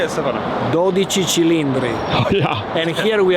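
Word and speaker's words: 12Cilindri: I can't pronounce it, so I'm describing it. How do you say it, Stefano? 12 cilindri.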